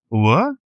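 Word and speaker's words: were: যদি বলি ওয়ার, যাকে অনেকে ওয়্যার বলে, উচ্চারণটা ওয়ার, এটাও কিন্তু একটা প্লুরাল ভার্ব।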